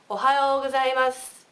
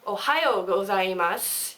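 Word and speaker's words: おはようございます: Ohayo, or ohayo gozaimasu, or something like that. Okay? So try, I'll say it slow for you. Ohayo gozaimasu. So it's like that. It's not ohayo gozaimasu.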